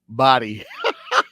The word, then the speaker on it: Bahdi: He was supposed to fight this guy named Lucas, and check out his name, Lucas Body, but it's spelled. It's spelled BAHDI and body H2O.